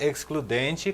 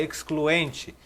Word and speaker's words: excludente: Olha, eu aprendi a pronunciar excludente com o inscrito do canal que comentou. Eu achava que era excluente, como se fosse no português, no espanhol, mas é excludente.